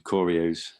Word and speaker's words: choreo: can have some scripted choreos um so are you pronouncing corey i i assume it's short for choreography so i i think it's choreo yeah okay so you